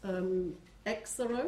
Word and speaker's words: Exaro: Mark Watts, Exaro, is that how you pronounce it?